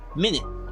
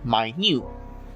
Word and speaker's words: minute: Minute rhymes with limit, which means a time of 60 seconds. Minute rhymes with unmute, extremely small.